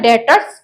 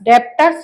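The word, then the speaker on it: debtors: ठीक है, इसका प्रोनाउंसिएशन होता है डेटर्स, डेप्टर्स नहीं होता है, डेटर्स होता है।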